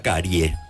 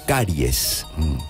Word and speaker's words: caries: Y es como la cuestión del los que dicen, tengo una carie. No, Tengo una caries. Caries es la palabra y se escribe con ese final. Usted puede tener dos o una y siempre es caries.